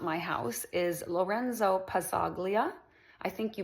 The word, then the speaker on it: Pazzaglia: my house is Lorenzo Pazaglia. I think you pronounce it palia. Like you don't p it's p a zz a g l i a but you don't hear the g I think.